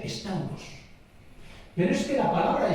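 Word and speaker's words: σταυρός: ¿Sabes cómo se dice en griego cruz? Se dice estauros.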